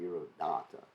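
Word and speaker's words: dhīrodātta: we just read that's diradatta you have to pronounce it with the long a diro data a person who was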